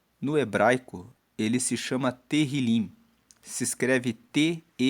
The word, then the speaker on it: Tehillim: Esse propósito nos foi dirigido pelo Espírito Santo e o livro de Salmos, no hebraico, ele se chama Tehillim. Se escreve T-E-H-I-L-I-M e Tehillim significa louvores.